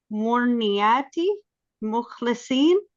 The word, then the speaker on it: Murniati Mukhlisin: Murniati Mukhlisin.